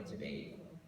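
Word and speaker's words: Tveit: He told me, first of all, it can be pronounced Tviet or Tviet. So just FYI.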